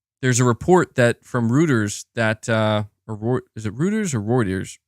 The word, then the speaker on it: Reuters: and the CMA was like nope yeah Reuters Reuters is how you say it you're saying but